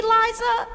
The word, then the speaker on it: Liza: It's Liza with a Z, not Lisa with an S, cause Lisa with an S goes snods. It's Z instead of S, Lie instead of Lee.